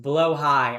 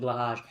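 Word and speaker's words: Blåhaj: I know it's I know it's pronounced blowhigh. I'm going to pronounce it blahaj.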